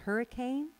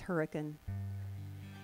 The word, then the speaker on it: Hurricane: For instance, we have a town in Utah that looks like it should be called Hurricane. It's not. It's Hurricane.